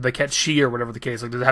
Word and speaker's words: Cait Sith: I know it's supposed to be Ketchi, but I'm going to call him Cait Sith for the sake of this video.